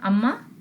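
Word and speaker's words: أمّا: So that's why the Arab removed the na sound and replaced it with meem to make it to go with the flow, and that's why we have amma.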